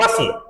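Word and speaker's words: bustle: था there was great बसल बसल बसल बोलेंगे T silent है बस का मतलब हल्लागुल्ला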